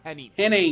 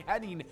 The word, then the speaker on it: Hennig: as Kurt Henning like but his name is Henning.